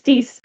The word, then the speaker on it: Dees: A turning point for Dees, for example, was, oh, you're all going to learn how to say the words, how I pronounce the names. It's Dees.